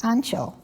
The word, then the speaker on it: Anshul: sisters during the holocaust his name in polish was anshul pronounced ancho on the left is